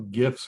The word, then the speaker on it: GIFs: but creating videos or little GIFs or GIFs, if you want to pronounce them that way as well.